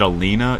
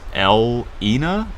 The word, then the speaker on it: Elina: So it's not Alina. It's not Elena. It's Elina. Elena.